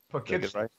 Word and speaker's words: Poughkeepsie: Poughkeepsie.